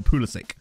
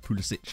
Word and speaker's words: Pulisic: born or something, like for example Pulisic, they pronounce it in an American way rather than like a more native way, like Pulisic, I suppose.